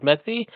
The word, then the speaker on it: Metze: Um, it's actually Mets, but don't worry, like everyone I've ever met always pronounces the E at the end.